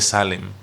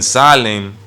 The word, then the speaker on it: Salem: es el rey de Salem cuyo nombre suena como shalom salen suena como se pronuncia como shalom y en el hebreo